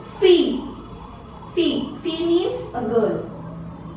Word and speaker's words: fille: Now in French, this combination E-L-L together produces the sound E, like the E alphabet in English. So it becomes fille.